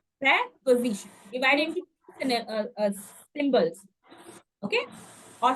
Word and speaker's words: preposition: it's not pre it's pre remember preos please pronunciation preposition preposition divide symbols okay or syllables preposition and the